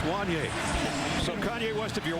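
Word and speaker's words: Wanya: it says, is it Wanye? Because he said, it looks like it rhymes with Kanye. And I said, only in this day and age would we use Kanye as a reference to pronounce Wanye.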